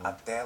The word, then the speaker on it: até: First of all, extremely common is até logo. Até logo. Até logo. Tchau. Notice the sound on até. Até. Até logo. Até. It's an open vowel.